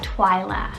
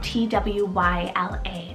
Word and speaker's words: Twyla: one's french rooted meaning sky then i have twila spelt t w y l a twyla such a dreamy and very whimsical name